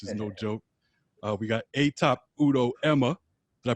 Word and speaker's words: Etop: We got Etop Udo-Ema. Did I pronounce that correctly? That's Etop. Etop.